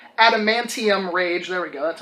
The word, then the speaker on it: Adamantium: Mortal Kombat 3, Wolverine, I always say this wrong, Adamantium Rage.